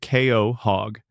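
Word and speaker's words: Quahog: The name is pronounced Ko Hog, and it is the name of a clam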